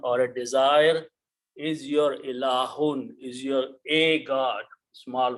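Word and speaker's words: إلهٌ: This pronunciation is ilahun. So if I write down these together, it will be ilahun.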